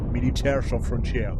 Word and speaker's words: Militaires sans frontières: Militaires sans frontières, pardon. Avec l'accent. Faut prononcer.